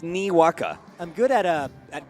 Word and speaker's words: Niwaka: saying that right somebody can somebody pronounce it out for me Wacka Wacka I know it's nee waka I'm good at uh